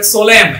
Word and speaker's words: solemn: তারপরে সোলেম, SOLEM, এনটা নাই, লিখতে হবে কিন্তু উচ্চারণ করা যাবে।